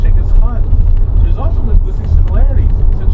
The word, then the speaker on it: Genghis Khan: And why do I always bring up Genghis Khan, whose title is pronounced as Genghis Khan? It's actually pronounced Genghis Khan.